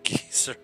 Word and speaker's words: geyser: you wait quest they say geyser but they pronounced geezers that's what you call